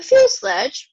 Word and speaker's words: fuselage: The fuselage rhymes with the blue garage is the largest part of the plane.